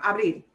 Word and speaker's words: abril: Abril. No lleva acento. This pays attention to the way we pronounce it, follows the rule. Perdón. Why did I stress that? Perdón. Abril. And here's abril. No, abril. We do punch the end. It ends in a consonant that is not N, that is not S.